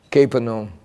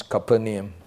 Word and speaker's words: Capernaum: because you didn't repent Capernaum or some would pronounce copernum your doom is worse